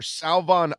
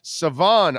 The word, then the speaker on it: Salvon: So the over and under for Salvon Ahmed, or Savon Ahmed, I'm sorry, because he corrected me several times. I didn't say it right. Savon Ahmed, the over and under is 24.5.